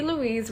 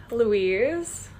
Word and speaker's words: Louise: my full name um that's how you pronounce it louise i know a lot of people pronounce it louis it's not lewis i am in fact a woman uh yeah so it's